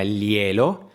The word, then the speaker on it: glielo: عايزك بس تعود لسانك على نطقهم، علشان انا بسمع ناس بتعملهم زي حرف ال. لا، هما ليالو، ليا ليالو، ليالا، ليالي، ليالا.